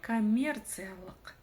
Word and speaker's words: коммерциялық: Следующее слово коммерциялық. Коммерция, прочитать умеете, и прибавлено окончание лық. Буква И читается очень коротко, а чтобы прочитать букву К с хвостиком снизу, нужно просто отхаркнуться через букву К обыкновенную.